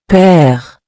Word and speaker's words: père: It gives the E an open sound, like the E in the English word set. It's softer and more relaxed than accent aigu. For example, père, which means father.